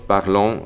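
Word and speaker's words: parlons: r tampoco se pronuncia y en nosotros parlón la s final tampoco se pronuncia vamos con otro verbo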